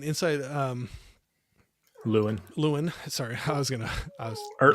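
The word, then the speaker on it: Llewyn: it's Lewin or Llewellyn. You Okay. can say it either way. Because like in No Country for Old Men, it's Llewellyn, but in this movie, it's Lewin.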